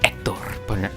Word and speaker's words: Hector: Well, you're not supposed to pronounce the H, it's Hector versus Miguel.